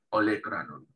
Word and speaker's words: olecranon: Y olecranon en español es igual, pero con acento en la E, olecranon, ¿sí?